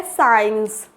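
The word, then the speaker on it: science: है नेक्स्ट आता है साइंस साइंस इसे भी स् काइंस तो नहीं पढ़ते क्या पढ़ते हैं साइज क्योंकि एस अगर सी से पहले आ रहा है तो ये सी साइलेंट होगा नेक्स्ट आता है सीन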